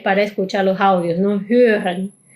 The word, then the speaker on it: hören: Hören, hören. Y esta r voy a resaltar algo particular de algunos verbos que puede que escuches como hören, hören, hören. ¿Ves que la r casi suena como mucho más sutil?